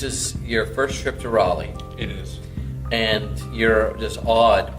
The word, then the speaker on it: Raleigh: been correcting canadians that it's not rally it's raleigh well done so yeah